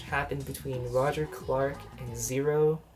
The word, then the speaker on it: Xero: Another really exciting match happened between Roger Clark and Zero. Zero is spelled Xero instead of with a Z.